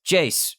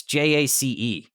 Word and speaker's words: Jace: "It's Jace with a J. Actually, she got the entire name wrong. It's Jace."